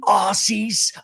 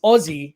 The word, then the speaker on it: Aussie: all right hey you Aussies I'm here in Melbourne and like number one it's Ozzy not Aussie I don't know what the they say like that number two it's Melbourne